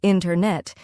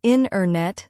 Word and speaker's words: internet: We don't usually say internet. Instead, we say internet. The T sound gets softer or disappears.